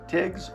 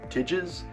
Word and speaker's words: Tigges: This is The Immortal by John Tigges, or Tidges. I've heard it pronounced both ways.